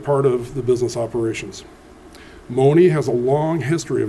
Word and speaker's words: Monee: uh even the uh even our town Mooney as we know uh has is based on a misprononunciation of somebody named Marie but as I recall the uh her mother's Ottawa tribe couldn't pronounce the Rs. So that's how we have Mooney as we call it now.